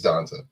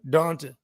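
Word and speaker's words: D'Ante: I mean, it's D apostrophe Ante. Anta. Okay, that's what it is. D apostrophe Anta. Now I'm pronouncing it correctly. Yeah, I'm pretty sure it's Donta, which is weird, right? It's just weird when you think about No, it. it's Southern. Donta.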